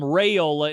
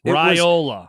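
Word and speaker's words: Raiola: Tim Brando's brain to call him Rayola instead of Ryola. By the way. Bad take. No. It was Ryola. It was Dominic himself when he used to say it on Ryola.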